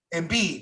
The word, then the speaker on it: Embiid: Embiid.